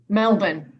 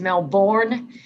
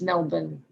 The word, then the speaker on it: Melbourne: city melbourne australia yeah yeah how is it pronounced in australia melbourne born everyone else here says melbourne and it's melbourne yeah it's really funny how aussies and americans